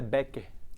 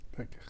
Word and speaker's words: Becker: A pronúncia é Becker, Becker.